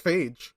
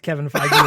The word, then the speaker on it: Feige: It's pronounced There we Feige? Feige? Yeah, Kevin Feige. I thought it was Phage.